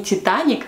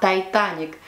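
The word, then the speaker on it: Titanic: вы не в курсе титаник по-английски звучит не титаник а то это ник и мой педагог по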